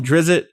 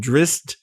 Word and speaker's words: Drizzt: How do you say his They pronounce name? it a bunch of different ways. You can call him Drizzit. You can call him Drist.